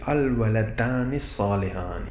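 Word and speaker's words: الولدان صالحان: When we join it, this hamzatul wasl has to go because it will be written and the vibration has to go, but it will not be pronounced. So it will be al-waladani salihani.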